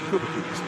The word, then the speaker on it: Chupa Chups: the family's sweet brands, although Italians will tell you that it should really be pronounced Cubacups because of the CH sound. But anyway, Chupa Chups is how it is commonly known.